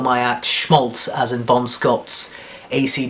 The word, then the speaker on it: Shmolts: the current spelling but pronounced Schmaltz as in Bon Scott's lyric um why the difficult